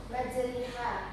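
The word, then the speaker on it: مجريها: Imalah cara bacanya bunyi A dibaca seperti E seperti pada kata bebek. Coba perhatikan. Majriha dibaca majriha.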